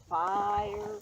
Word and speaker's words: fire: What bothers Ian is when people make fire into 2 syllables. Fire. Oh He yeah. wants it fire.